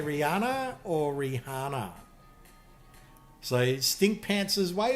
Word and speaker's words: Rihanna: But her name has H. The H is silent, Rihanna. Really? Everyone's agreed? Okay, tell me, chat. You know the songstress, the musician, the singer, Rihanna, or is it?